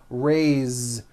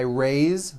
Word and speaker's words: raised: a bit unusual because even though it is spelled with an S it's pronounced with a voiced Z raised so we say I raised with a voiced Z